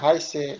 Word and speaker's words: heiße: Tulisnya Heise, bacanya Heise. EI dibaca I.